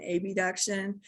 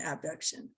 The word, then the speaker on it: abduction: words a lot, will often say adduction and abduction, just because those words sound so similar, but that's not how you pronounce it. You pronounce it adduction and abduction.